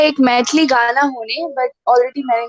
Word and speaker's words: मैथिली: सोनू ने, लखन कुमार जी ने नॉट मिठियाली, इट्स मैथिली, हाँ मैथिली, मैथिली, माफी चाहता हूँ मैं, प्रोनाउंसिएशन में गड़बड़ होगी, माफ कर दीजिएगा लखन जी।